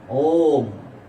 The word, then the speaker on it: ওম: কে আছেন পাচজন কারা ওম তিনটা শব্দ অরয় রস ম ওম উচ্চারণটা অনেকে ঠিকমত করতে পারে না ওম এই ওমের মধ্যে কে